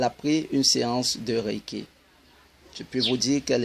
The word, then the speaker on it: Reiki: Le Reiki est formé de 2 syllabes, Rei et Ki.